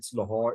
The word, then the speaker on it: Lahore: do not ask the examiner questions using this pronunciation is Lahore it's not Lahore it's late uh it's New